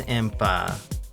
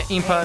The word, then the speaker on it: Impa: had no idea I thought made no was EMPA but do you see how the I can get confused yeah Impa Midna yeah it's kind of key it's easy